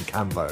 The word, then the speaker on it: Canvot: I think that works if you say his name wrong. So everyone calls him Canvo. So yeah. It's the Canvo combo. Yeah, that works. I was about to praise you on your correct pronunciation of his name. But yeah, they both work.